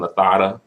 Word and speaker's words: Lozada: high key protected Evelyn Lozada and you know that's how you pronounce her last name actually if you were in Spain the Z is a th so Evelyn Lozada but that's another story